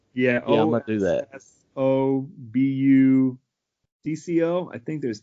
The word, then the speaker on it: Ossobuco: How do you pronounce that? The Italian one? Ossobuco. Ossobuco. Yeah. I'm gonna do that. Ossobucco.